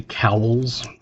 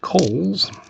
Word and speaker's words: Cowles: When I was a kid, it bugged me when everybody would say cowls cuz my name is C O W L E S and it's pronounced Kohl's.